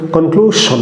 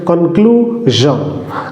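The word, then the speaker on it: conclusion: আমাদের সমাজে প্রচলিত ভুল উচ্চারণ হচ্ছে কনক্লুশন, বাট এটা ভুল উচ্চারণ। কারেক্ট উচ্চারণ হচ্ছে কনক্লুশন।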